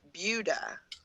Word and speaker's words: Buda: It's spelled Buddha, but you pronounce it Buda.